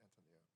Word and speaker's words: Antonia: Antonia, that's how you say it, Antonia.